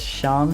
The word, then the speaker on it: Seam: I remember something, but the name's Sham, pronounced Sham, and this is my little shop.